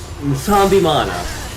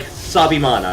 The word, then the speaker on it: Nsambimana: Basically most people drop the N, but basically when you're saying it, it's Nsambimana. Huh. And most people are just like Sabimana, and it's like no, it's Nsambimana. Like there's a slight N. You do pronounce the N, it's just tricky to get it there.